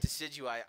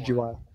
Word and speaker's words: Decidueye: How do you pronounce his name? The grass type. Decidueye? Decidueye.